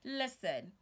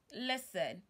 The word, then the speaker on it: listen: words like lesson listen it is not correct for you to pronounce the T sub say listen listen listen listen to your teacher